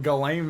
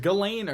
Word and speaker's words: Ghislaine: going to talk about galen maxwell is it galena or what did you say it's gallane you're saying it right it's spelled like jizzling